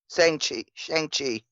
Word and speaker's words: Shang-Chi: So then that pushed Shang-Chi, or how do you pronounce that, Jake? Shang-Chi.